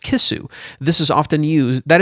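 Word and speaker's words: キス: In Japanese, he was actually talking about a fish which is pronounced kisu.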